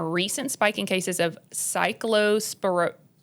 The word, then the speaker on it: Cyclospora: Um there's been a recent spike in cases of um you're going to have to help me pronounce this word. There's been a recent spike in cases of cyclospora sporiasis So okay.